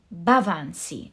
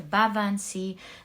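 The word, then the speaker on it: Baobhan Sith: This is the truth, because in this Fool card we see the Bavan Sea is how it's pronounced. The Bavan Sea.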